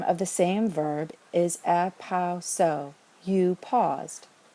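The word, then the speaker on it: ἐπαύσω: We look at the last syllable, see that long omega, and we know that we can only count back 1, 2, and put the acute over the second to last syllable, the penult, epauso.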